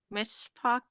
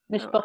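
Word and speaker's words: mishpocha: And she says, does she say your mishpak? Mishpucha.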